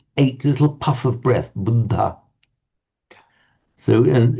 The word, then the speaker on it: Buddha: So you might hear it as buddha which the in native Indians speak say hang on that's just not wrong it's not budda it's buddha but okay that that